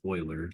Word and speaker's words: Euler: It looks like Euler, but it's pronounced Euler. Leonard Euler.